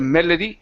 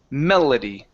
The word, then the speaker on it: melody: on this word okay the L the L in English is softer okay nice and soft when you touch the top of your mouth okay when you're pronouncing that L it almost feels like a Spanish R medal metody okay so instead of metody okay it's Mel Melody Melody Melody there you go okay so the